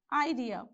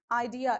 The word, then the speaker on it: idea: another word you have idea how do you pronounce this the correct way of pronunciation idea is you have to stress on the second syllable so we have two